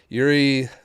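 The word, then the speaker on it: Juri: I don't know why I pronounced the J in there. I thought the J was didn't realize it was silent.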